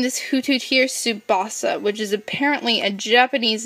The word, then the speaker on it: Tsubasa: Plus it rhymes with Mufasa, so you can't go wrong with something that freaking rhymes with Mufasa.